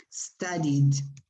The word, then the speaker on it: studied: Well, in those cases, ed is pronounced like a d. So you say married in the past. Yes. Married. Studied. Okay.